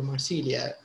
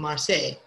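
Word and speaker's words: Marseille: مثلا زي مدينة مارسيليا نقول مارسيليا المدينة الفرنسية لكن هم الفرنسيين يقولوا مارسي. لأن ال L لما تجيهم زوز L ينطقوا فيها ساينت.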